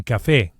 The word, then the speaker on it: café: un A coffee is un café. un café And we emphasize the a vowel on account of the accent, which indicates the stress, the strong syllable, un café. And not café.